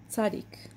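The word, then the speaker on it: צ: marks from the page Sadiq Sadiq and first we also have the version of the end of italic Sadiq this is pronounced like T and Z together so English doesn't have this sound I said this in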